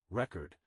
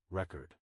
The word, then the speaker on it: record: For example, in the word record, the stress is on the first syllable when it is a noun, record, and on the second syllable when it is a verb, record.